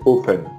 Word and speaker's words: open: temps des anglais oui on utilise la prononciation anglaise open oui open de france